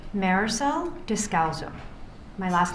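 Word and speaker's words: Descalzo: Marisel Dowzo. My last name is spelled D E S C A L Z O.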